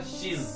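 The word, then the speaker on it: she's: उसी तरह से शी, इसका कॉन्ट्रैक्शन होगा शीज, शीज। इसका प्रोनाउंसिएशन जो आएगा लास्ट में, जो प्रोनाउंसिएशन आएगा वो जेड का है, शीज।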